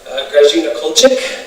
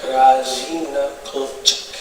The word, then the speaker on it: Grażyna Kulczyk: I'm a guest here of Grażyna Kulczyk. Did I say it right? Yes. Okay, good. Very hard word for me. I want to say Grażyna all the time. I don't know why. Grażyna Kulczyk.